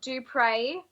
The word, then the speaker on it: Dupriez: So it's pronounced Duprey, but it's spelled D U P R I E Z. E Z. Yeah, it's got a silent Z.